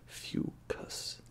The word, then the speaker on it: Fucus: This is out of Fucus Rockweed Gose from Phillips, and it says in the back the pronunciation here, Fucus, a genus of golden rockweed found near the rocky seashores, shines in this lightly spiced citrus-forward Gose.